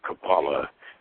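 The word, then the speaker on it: Kabbalah: that in mind let's consider the relation of kabala with immortality first let's differentiate the various spellings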